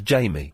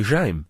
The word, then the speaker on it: Jaime: that's a girl's name, then they would probably not pronounce it Jamie. They'd say Jaime. Yeah. Of course they would say Jaime. It's the obvious thing to do is to say Jaime.